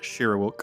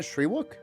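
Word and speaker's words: Shyriiwook: And I'm only saying something because I feel like Shay would know uh that the official Wiki language is called Shiruk. Is it not Shriwok? Shwuk. It's spelled like Sherwok.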